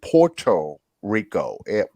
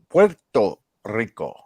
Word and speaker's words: Puerto Rico: you know puerto rico everybody says porto rico puerto rico you know everything was